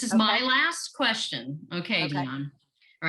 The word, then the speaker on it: Deonne: Deonne.